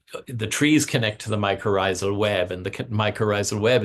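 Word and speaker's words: mycorrhizal: What is how can you say it again or spell it? Oh, microisal. Um, it's if I I think the spelling is m y c o r r h i z a l microisal network and microisal means root fungus.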